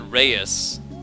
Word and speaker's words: Keys: Pronounced like Keys, are you sure? Because I know that Reyes, a Spanish family name, is written the same way. But okay, I'll call him Keys. Simon Keys.